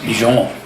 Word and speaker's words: Dijon: It was called Dijon, like the mustard, Dijon.